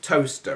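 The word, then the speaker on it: Towcester: in a town called toaster which is spelled toester but you pronounce it toaster it's where they've got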